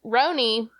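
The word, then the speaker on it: RHONY: Housewives of New York is that how pronounced Rony yeah that's how that's what the you know girlies call it roony is in full swing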